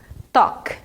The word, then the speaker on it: talk: Talk. Esse é o verbo conversar. A gente não fala a letra L, ela é silent aqui, ela é muda, ok? Então é talk.